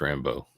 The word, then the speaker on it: Rambeau: Is that, help me pronounce Rambo? I think it's just pronounced Rambo. Yeah, it just sounds Rambo.